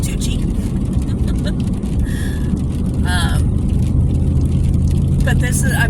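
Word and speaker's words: Touchet: this is the Big Town of Tui or touch it as a lot of people around here call it it's t o u c h e t budget um but it's pronounced toi um but this is I mean this is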